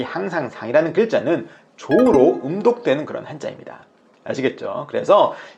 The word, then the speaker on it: じょう: 그런데 재밌게도 이 항상상이라는 글자는 조우로 음독되는 그런 한자입니다. 아시겠죠? 그래서 이 항상상이라는 글자는 조우로 발음된다라고 여러분들이 생각하시면 되겠습니다.